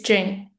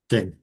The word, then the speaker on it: Jing: Oh me is Jing. Jing Jing. Yeah. Just think about Jingle Bell.